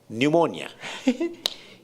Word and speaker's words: pneumonia: it begins with s pneumonia indeed the p is silent which is never the